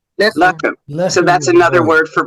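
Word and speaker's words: לחם: Okay, so where it says is broit, and it's how do you pronounce that? Lechem. Lechem.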